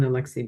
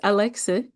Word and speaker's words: Alexi: Well, Alexis Alexa, I keep saying your name wrong. Alexi, thank you so much for coming on the podcast.